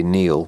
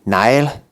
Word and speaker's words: Niall: which is right and the people who say nail which is wrong and the nile comes from the irish mispronunciation of the gaelic language or gaelic language so it's got to be it's got to be neil it's coming otherwise you